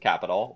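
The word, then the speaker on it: Qapital: actually a phone app it's called capital q a p i t a l i usually call it all the time but i guess they pronounce it capital whatever um and it's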